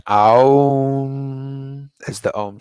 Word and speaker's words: Om: How to pronounce the Om sound. So there's three main syllables, A, U, and M. It really does, it's not like Om, it's more like an Aum.